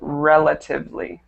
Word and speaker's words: relatively: correct this word also relatively relatively okay Ed to perfect perfect so just the stress on that one relatively should be on the first e okay so let's go